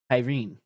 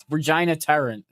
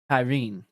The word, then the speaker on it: Tarín: And I believe you pronounce her name, Rahena Tyne. Now, I would have called her Regina. Regina Tyran tan to tan or something. But it's Raa Tyne.